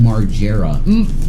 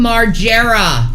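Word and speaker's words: Margera: bam marara and Shanny the way you say his name is Bam marera Bam marera there you go there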